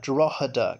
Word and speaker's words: Drogheda: Oh, he's talking about Drogheda, because it's got a silent G in it.